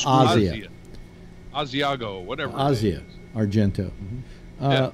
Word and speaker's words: Asia: Argento Bossier it's not I think it's pronounced Asya Asiago whatever Razia Argento